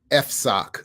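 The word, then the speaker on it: FSOC: called the financial stability oversight council pronounced f sock for short the idea behind f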